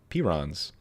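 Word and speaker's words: prions: Pyron. Pirons. P r i o ns. Pirons. I just looked up how to pronounce it. Pirons.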